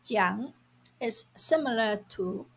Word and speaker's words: 讲: The Chinese word "讲" (pronounced jiǎng) is similar to 说 to mean to speak, to tell or to say.